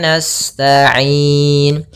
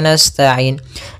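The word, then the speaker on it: نستعين: na'budu wa iyyaka sama di sini Wa iyyaka nastainin Kemudian pada lafal ya pada lafal ya yang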